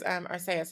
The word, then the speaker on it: Arceus: I think the official way is Arceus, is because that's how they say in Japan, Arceus.